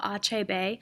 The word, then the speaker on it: Achebe: And so you can see the pronunciation of the author's name, Achebe. So Achebe is how you pronounce his name, and you can put